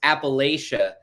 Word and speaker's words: Appalachia: West Virginia from North Carolina from whatever it's Appalachia and they're like I I live in Appalachia we're here we live here this is this